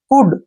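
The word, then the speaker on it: could: उच्चारण नहीं करेंगे जैसे कुड सी ओ यू एल डी कुड ठीक है ना कुड ऐसे क्योंकि डी से पहले एल आया है तो एल का उच्चारण हमने नहीं करना है आपने यह बात यहां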